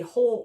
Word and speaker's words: whole: a little bit funny there's a w on the beginning of it spelled w h o l e whole note n o